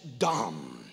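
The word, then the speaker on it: דם: for blood is dumb it's spelled d-a-m and the hebrew calls it dom the hebrew word for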